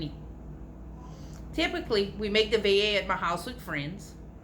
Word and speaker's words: veiller: Cajuns like to veiller, pronounced veiller, not ville, not vele, veiller.